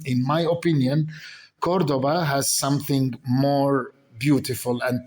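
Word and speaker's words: Córdoba: and breathtaking Number four, Cordoba or Cortuba as in Arabic or Cordoba as the Spanish would um uh pronounce it.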